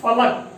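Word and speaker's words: फ़लक: सातवां जोड़ा देखेंगे बिना नुक्ता में फलक, इसका मतलब होगा तख्ता, और नुक्ता लग जाए फ में तो क्या हो जाएगा? फलक, फलक, और इसका अर्थ होगा आसमान।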